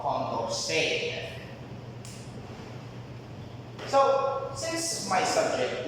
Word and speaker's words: Condorcet: It's also known as Condorcet method, that's how you pronounce it.